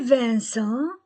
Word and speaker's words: Vincent: Les Vincent les Vincent I N1 C e N1. Les Vincent C + E ou I ou Y se prononce ce avec les autres que.